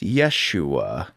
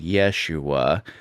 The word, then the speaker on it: Yeshua: So Jesus would have been called Yeshua. But Greek has very specific rules for like in his actual culture Jesus would have been called something like Yeshua.